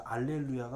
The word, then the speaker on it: 할렐루야: 할렐루야도 앞에 그냥 히읗이 원래는 이스라엘 사람들은 묵음이에요. 그래서 알렐루야가 원래는 더 맞는 말이에요.